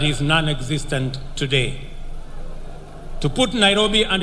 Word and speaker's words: Nairobi: let us recall that the city is an anglicized pronunciation of encare Nairobi which is the kimasai means which in kimasai means the river of Cool Waters for the Maasai a